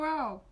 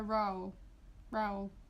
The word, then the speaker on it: Rowell: I say Rainbow Rowell. Like a trowel.